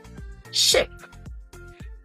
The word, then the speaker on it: ship: And the second word, ship. It has a short I sound.